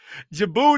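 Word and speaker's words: Djibouti: is just like Jango jibou is spelled just like d Jango it don't start with a J I just gave I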